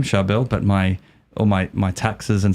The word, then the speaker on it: Charbel: Syriac name specifically, and you say it like this, Charbel, very hard, it's a tongue twister.